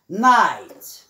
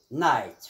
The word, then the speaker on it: night: Example، مثال night، night فهنا GH لم ننطق بها، كانت صامتة، كانت silent، silent معنى صامتة.